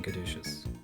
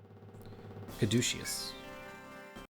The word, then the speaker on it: caduceus: Caduceus. But which syllable has the stress? I've been putting it on the do.